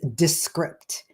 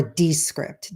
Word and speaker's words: Descript: the next tool is descript or descript depending on how you like to pronounce it um descript again a